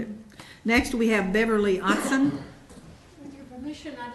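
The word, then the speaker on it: Ottzen: Otson, O-T-T-Z-E-N, Otson? Yes. I said it right. My name is Otson, O-T-T-Z-E-N.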